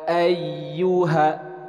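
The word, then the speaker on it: أيها: ghunnah kita baca Qul Ya ayyuha ayyuha jadi ada penekanan bukan kemudian ada huruf H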